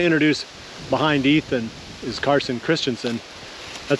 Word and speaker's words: Christensen: So I'm going to introduce, behind Ethan is Carson Christensen. That's how you pronounce it, right?